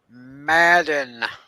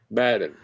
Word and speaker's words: Madden: want to tell you, it's Madden. Yeah, I'm sorry to say it wrong. I'm trying to correct myself. Wait, is it Madden? Madden. I'm saying it right.